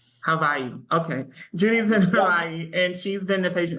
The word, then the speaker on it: Hawaii: how you say it Havi so you pronounced the W like a V Havi okay Judy's in Hawaii and she's been the